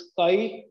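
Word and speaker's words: χ: This काई, where काई is called susceptibility, written as चाई बट प्रोनाउंसिएटेड एज काई, इज कॉल्ड मैग्नेटिक ससेप्टिबिलिटी.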